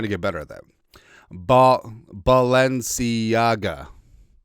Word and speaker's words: Balenciaga: I had the pronunciation up because I'm trying to get better at that. Balenciaga.